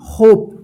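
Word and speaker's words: hope: देखिए रूल्स में क्या बताया गया था कि जब लास्ट में ई रहे और ई से पहले वोवेल ओ आता है तो ओ का ओ उच्चारण होगा और ई का उच्चारण नहीं होगा।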